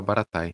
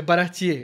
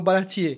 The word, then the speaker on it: Baratie: Que eu, nesse meu parco conhecimento, sem assistir o anime, na minha cabeça eu sempre pronunciava Baratai. Não, é Baratier. Ele vai, mesmo em japonês eles falam Baratier.